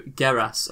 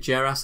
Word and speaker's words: Geras: Is it Geras or Geras? It'll be Geras. I think it's Geras. It's Geras. Right, we'll go with Geras.